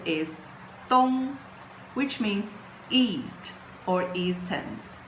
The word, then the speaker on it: 东: And the pronunciation is dōng, which means east or eastern.